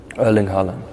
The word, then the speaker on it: Erling Haaland: simple as that yeah erling Holland erling Ireland I have to think because it's a bit different in Norwegian and English you know when I lived in England they said earling and uh in Norwegian